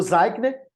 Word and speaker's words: Zeichner: autor tá é o que zackner tá se escreve zeichner para o zaigner Ele fez vários estudos